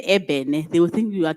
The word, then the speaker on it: ebene: Then they say this E-B-E-N-E, ebene, ibini. They pronounce it as ibini, where in the actual sense is supposed to be ebene, because in Setswana we say